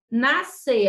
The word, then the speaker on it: nascer: Nascer. A gente não fala nascer. Tem muita gente que fala nascer. Não é nascer. Nós não temos nenhum I aqui.